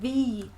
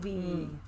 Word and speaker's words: Thee: Is it Thee Stallion? It said Thee, isn't it? But it's like double E. Yeah, So it's like Thee. Yeah. Not the.